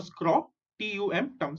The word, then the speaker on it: scrotum: Testes को I have color marked it so that it's easy to pronounce. Okay, TES is test, TES is tes. Okay, testes. Next, SCRO, scro, TUM, scrotum.